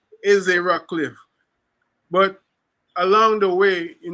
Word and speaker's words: Ezzie Rockcliffe: and he said well the correct pronunciation is e e rockliff but along the way